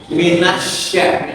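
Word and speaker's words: الشَّيْطَانِ: Minassa bukan sin tapi syin. Minasya minas. Minasya ya. Syin itu tengah lidah dengan langit-langit bagian tengah. Tengah lidah dengan langit-langit bagian tengah. Minasya. Kalau sa enggak tempel ke langit-langit.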